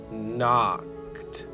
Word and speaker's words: knocked: house he can knocked the K is silent she's just keeping the N company while he does the talking so it's he knocked on the front door